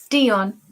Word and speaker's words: Deion: How do I pronounce his name? Deion Sanders play. Right. Him. Deion. Baseball. Oh, Dion.